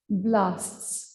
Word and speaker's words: cnidoblasts: ठीक है, so you can write simply these are called as cnidarians because of the presence of the cnidocytes or cnidoblasts. C is silent.